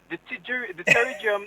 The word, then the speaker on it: pterygium: Well, I've seen a P before the T, so the P is silent.